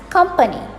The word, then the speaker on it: company: this as company company there is no penny in company so pronounce it as company i work for a